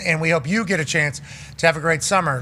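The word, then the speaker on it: Etienne: Travis Achan from the Jaguars. Yeah. I just did we say his name right? It was at the end. He changed it to Achan.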